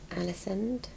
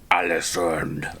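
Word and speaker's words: Ålesund: And then um so that was Olden and then Alison is her name. No. How do you say it properly? Alison. So, our third port of call was Allison.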